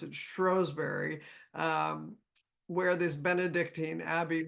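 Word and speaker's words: Shrewsbury: and they're very well researched she lived in Shrewsberry or as they pronounce it strowberry um where this Benedictine Abbey was up until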